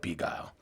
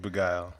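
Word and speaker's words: Begyle: of the hosts yeah and he called it beagle so i'm like man for like for like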